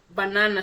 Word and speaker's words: banana: so sof far okay then we talk about banana bana so the second syllable is na So ba na na So when you say na you find it very very easy and easier to say now just to make